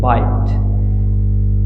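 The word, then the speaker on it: bite: Same example with बिट, इस लफ्ज़ को हम प्रोनाउंस करते हैं बिट, और जबकि सेम स्पेलिंग ई की एडिशन है, ई साइलेंट होगा और इसको हम प्रोनाउंस करते हैं बाइट।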